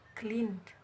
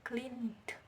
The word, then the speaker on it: cleaned: Contohnya kata cleaned, ya, cleaned, membersihkan. Kan dia akhirannya N, C L E A N, clean, akhirannya N, huruf terakhirnya N, maka dia termasuk voiced, dia dibacanya cleaned, bukan clean.